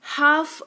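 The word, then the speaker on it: half: इसको हलफ नहीं हाफ पढ़ते हैं।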